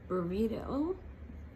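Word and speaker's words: Byredo: Then burrito, not burrito like the one you eat, B-Y-R-E-D-O, Bibliothèque.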